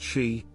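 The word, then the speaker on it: síd: an underground kingdom accessed only through the Sidmounds, pronounced she, or hollow hills of Ireland.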